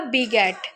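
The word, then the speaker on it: beget: Sorry, यहाँ पे ये जी जो है वो गाफ की आवाज़ से ही हम इसको प्रोनाउंस करेंगे। ये होगा बी गेट। ये बैजेट नहीं, बी गेट होगा।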